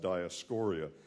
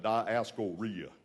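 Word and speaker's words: Dioscorea: And by the way, it's pronounced Diascoria. In Texas, they mispronounce everything, basically. And so they call it diascoria. Well, it's not something that happens after a bad meal. This is a Greek word. It's diascoria.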